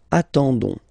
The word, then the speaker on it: attendons: You don't pronounce the S, so you get only this on sound, okay? Attendons, nous attendons, so we'll make the link between the two, la liaison.